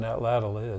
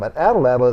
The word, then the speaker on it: atlatl: Why don't you explain what an atlatl is and how the Book of Mormon talks about casting arrows and things?